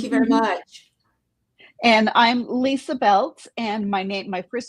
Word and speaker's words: Lysa: say that I am Lysa with a Y, a WHY. Just kind of helps people remember. It's like, yes, my name is pronounced normally, it's just spelled Right.